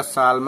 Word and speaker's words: Psalm: ठीक है, आप लिख दोगे द साल्म ऑफ लाइफ। ठीक है, PSALM, जो साल्म नहीं होता वो साल्म होता है, P साइलेंट होता है उसमें।